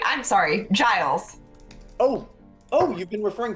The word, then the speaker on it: Giles: from the poem Giles is it Guiles or Giles it's Giles but that's my name